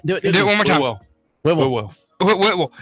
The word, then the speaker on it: Whitwell: Whitwell. Remember, think of it this way. I'll start writing it out for you phonetically. It's W-H-I-W-O-O-L. Whitwell.